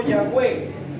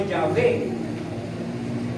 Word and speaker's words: Yahweh: Ellos le agregaron dos vocales, que fueron la A y la E. Y se puede pronunciar como Yahweh o Yahvé, que traducido es Jehová.